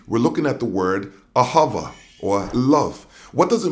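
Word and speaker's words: אהבה: languages as it is in ancient hebrew it's pronounced ahava it most basically refers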